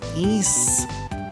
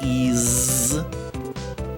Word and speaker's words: Ys: you pronounce That's not not even how you pronounce ys. It's e, not ease. Not ease. Like if something is easy, you say, "Hey, I can do it with ease."